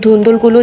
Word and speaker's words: ধুন্দুল: আমি নাকি বেশি স্টাইল করে ধুন্দুল বলছি। এটার কিন্তু বইয়ের উচ্চারণ ধুন্দল। আমরা এভাবে ধুন্দুল বলি, কিন্তু আমি এখানে আঞ্চলিক ভাষা বলছি না, তাই আমি ধুন্দুলই বলছিলাম।